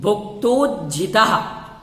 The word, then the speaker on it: भुक्तोज्झिता: भुक्तोज्झिता, इसमें सबको उच्चारण करने में कठिनाई होती है, पेंसिल से निशान लगा लें।